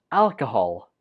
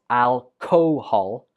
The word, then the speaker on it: alcohol: 18 is pronounced alcohol. Alcohol. Not alcohol. Alcohol. The 2nd syllable uses the schwa, so it takes a weak form. And the stress goes on the 1st syllable.